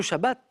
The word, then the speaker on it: Shabbat: Et le Shabbat arrive. On peut prononcer le T ou pas.